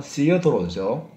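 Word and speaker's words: Theodore: 드리는 선물을 떠다는 말이에요 태오 도르나 시도라고 부르는데요 정확한 발음은 씨어 도죠 그러면 신을 왜 어라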